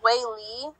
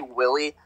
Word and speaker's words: Weili: Anyways, would you pronounce that as Wei Li? Yeah. Wei Li. Okay. So Wei Li won the women's strawweight. Before you started, did you at least say Willie?